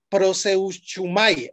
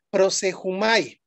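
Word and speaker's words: προσεύχομαι: su original griego y y se dice así prosumay así se escribe pero se pronuncia prosejumay que es igual a orar suplicar rogar pero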